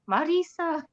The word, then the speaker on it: Mirriam: Erin I love how you say my name Marisa um but that is the way you say